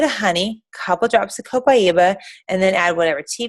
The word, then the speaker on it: Copaiba: Copaiba, and that's how you say it, co with a pi in the middle and then iba.